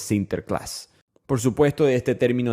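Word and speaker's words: Sinterklaas: ellos celebran a San Nicolás pronunciado en holandés sinter Class por supuesto de este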